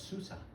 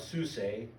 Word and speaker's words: Susa: You know, you guys are looking at that word, you're going, oh, it's Susa. I think the A is pronounced long, so it's Susa.